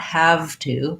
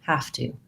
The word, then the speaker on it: have to: closely, you'll hear that rather than saying have to, I'm linking those two words, and my V is turning more into a voiceless F sound. So not have to, but have to, have to. And also not ooh, not have to, but rather have to, have to. That becomes the vowel schwa, sounds like because to is an unimportant, unstressed word.